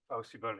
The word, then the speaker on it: PowSyBl: PowSyBl, yeah.